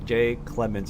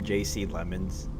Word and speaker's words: Jay Clemens: You know, for the longest time I've been calling him JC Lemons and then like one day I just clicked. I'm like, "Oh, shoot." Been saying it wrong for a long time.